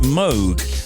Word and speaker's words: Moog: The surname of the late Robert Moog, Bob Moog, inventor of the legendary Moog synthesizer, is actually pronounced Moog, as in Rogue. But everyone said Moog for so long, no one bothers to correct it anymore.